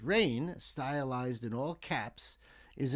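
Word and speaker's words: Raign: Name of the band or artist is Rain, but it's spelled R AI GN.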